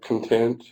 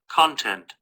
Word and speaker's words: content: Content. Content. Because there's two different ways to pronounce that word depending on what it means.